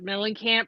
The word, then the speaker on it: Mellencamp: Well, and that's why it's hilarious that Mellencamp rhymes with Tramp.